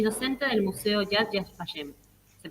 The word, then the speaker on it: Yad Vashem: Fue pasante del Jewish Museum y del Metropolitan Museum of Art en Nueva York y docente del Museo Yad Vashem. ¿Se pronuncia así? ¿Lo dije bien? Yad Vashem, sí.